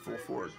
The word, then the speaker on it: Fulford: of this guy Benjamin fulford go to rumble and look up Benjamin full I think his name is actually pronounced full Ford he pronounces full Ford f u l f